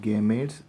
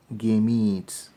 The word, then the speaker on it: gametes: production of gametes okay it is not game AIDS but rather we should pronounce as game eats the cage so the